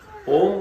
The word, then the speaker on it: ओम: फिर बता देता हूं हम लोग उ से शुरू करते ओ ऐसे करते हैं लेकिन जब ओम की संत लोग व्याख्या करते हैं तो अ उ म और बिंदु चार मात्राओं का प्रयोग है